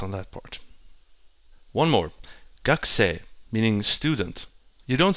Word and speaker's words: gakusei: So it's sensei and gakusei.